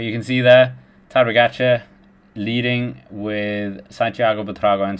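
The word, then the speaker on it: Pogačar: It rhymes with Smorgatcha, and it's Tadej Pogacar, obviously.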